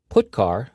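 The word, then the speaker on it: putchar: character io functions are get car and put car that's how I pronounce them get car fetches a character from standard input put car sends a character to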